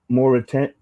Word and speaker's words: Mauritanian: The Murderarian? How do you say that? Because he's from his country. It's Mauritanian.